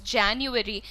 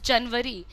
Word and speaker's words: January: I still remember कि मैं January को, which is the name of the English month, the pronunciation is January, and I used to pronounce it as Janwari.